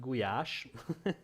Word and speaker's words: Goulash: I like more than any other is Hungarian Goulash it's actually pronounced GUI ash for those of you want to know so